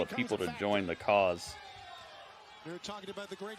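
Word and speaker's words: CAWS: House of Black is trying to indoctrinate another couple of people to join the cause.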